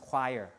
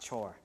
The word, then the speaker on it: choir: prayers and choir uh this is pronounced choir right not chore choir sang requiems requiems are